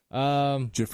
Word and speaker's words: GIF: debate on GIF versus GIF because the creator of the file type himself, after he won the award, was being toted off stage, and he's like, "It's pronounced GIF like the peanut butter."